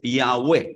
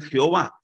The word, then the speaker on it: Yahweh: porque el nombre de Dios es Yahweh. Algunos pronuncian Jehová.